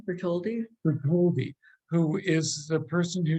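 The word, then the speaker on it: Bartholdi: right is that the house of Bertolli did I can't quite say it right say it right bertoldi who is the person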